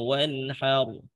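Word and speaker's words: وانحر: Tinggal roknya di belakang ditebalkan sedikit lagi. Wanhar, wanhar itu tipis, wanhar itu tebal. Dibacanya roknya tebal.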